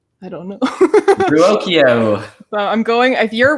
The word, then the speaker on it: Ruocchio: Uh so yeah, we're here today to talk about Empire of Silence by Chris It's Ruocchio, right? Christopher Ruocchio? Ruocchio, yeah.